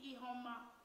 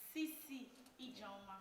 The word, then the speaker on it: Ijioma: studio mr c c e homer nice to meet you sir yeah excuse me point of correction about the pronunciation of my name professor c c e okay sorry sir professor e jama thank you very much